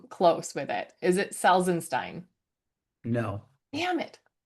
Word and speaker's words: Salzenstein: Okay, so stop with the first syllable. Say it again. Sal. Saul. Sal. Okay. Then what comes after Saul? Zen. Yeah, Saul Zen. Yeah, Saul Zen. Okay, And Salzenstein. then change that. Steen.